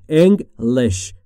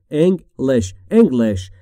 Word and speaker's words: English: تلفظش رو دقت بفرمایید. English. انگلیش نگید دوستان. English.